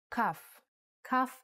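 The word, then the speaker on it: כ: with sharp corners cuff cuff actually is only pronounced like when it has a dot inside just like bet only has the B sound when it has this dot without the dot it sounds like huh a good example is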